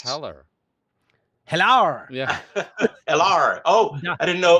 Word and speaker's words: Heller: Well, I I like just all thought the I'd people that It mispronounce does. Heller. Hello. Yeah. LR.